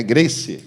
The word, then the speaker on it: Grace: Grace, que se fala? Sim, ele se escreve Grace e ele se lê Grace.